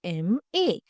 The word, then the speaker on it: MA: एम ए बोलते वक्त sound होता है एम ए। शुरू होता है वोवेल साउंड से।